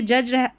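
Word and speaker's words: judge: तो यह जज जज हुआ। ऐसे ही देखिए यह हो गया एज। ऐसे ही और बहुत सारी स्पेलिंग्स जहां पर डी जी का उच्चारण ज होता है।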